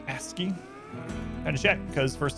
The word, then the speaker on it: ASCII: Supposed to be pronounced ASCII.